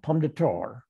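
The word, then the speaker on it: Pomme de Terre: sac river and the palm de terra river if you're in the ozarks you're called pom data yeah i know we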